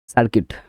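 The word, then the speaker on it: circuit: এল ডি আই এন G building মানে ভবন সার্কিট সি আই আর সি ইউ আই টি সার্কিট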